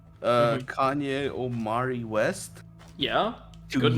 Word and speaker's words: Ye: Kanye Omari West, Yeah? to Good name. Y-E. No, Ye. Y-E. Yeah, no, I know it looks like yeah, but he pronounces it yay.